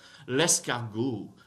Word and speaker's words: l'escargot: L'escargot, l'escargot, l'escargot, l'escargot. Don't pronounce the final T.